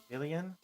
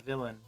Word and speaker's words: Villian: Villian? After Villian? I feel like I'm going to still say it. There's an extra letter, so it's not villain, but it's Villian.